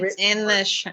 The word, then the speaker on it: Hritz: And Ritz is not spelled like Ritz crackers. There is a silent H in front of it. So Jessica, you see it here in the Zoom photo. It's Ritz.